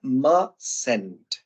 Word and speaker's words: mustn't: Ah, bueno, sería must not, o esta palabra se pronuncia mustn't. Como si esta letra T.